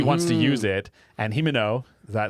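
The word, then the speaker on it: Himeno: sword because he wants to use it and himino is that how you say it yep remember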